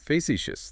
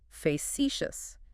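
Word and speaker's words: facetious: Facicious. Three syllables, stress on the second one. Right. Facitious.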